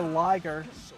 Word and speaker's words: Liger: episode of Bio Armor Liger even more bio armor ryger, but I mean they pronounce it liger in the show, so that's what I'm saying.